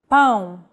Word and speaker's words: pão: To indicate nasal vowels, the tilde is used. Pão.